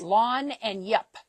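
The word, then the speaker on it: lagniappe: Lanyap. Yes. Lan and yap.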